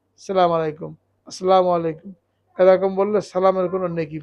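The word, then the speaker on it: السلام عليكم: যিনি উত্তর দেবেন তিনি বলবেন ওয়ালাইকুমুসসালাম ওয়ারাহমাতুল্লাহি ওয়াবারাকাতুহু তো খুব খেয়াল করে স্পষ্ট করে আসন উচ্চারণ করতে হবে মু আলাইকুম আসসালামু মমের উপরে পেশ এটাকে মারুফ করতে হবে তো এটা অনেক বড়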